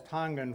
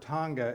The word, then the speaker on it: Tonga: here as Tonya Ortona they kind of leave out that hard G when you put the